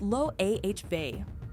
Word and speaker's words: Loewe: Loewe, pronounced lo-a-hay, and fashion people will absolutely clock you on that.